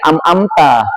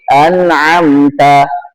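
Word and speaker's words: أنعمت: anamta bukannya amamta tapi anamta an pakai alif pakai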